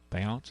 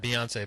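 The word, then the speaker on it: Beyoncé: don't even know bance Bon here the singer bance am I saying that right am I am I saying it right it's a Beyonce but you say you can just say ba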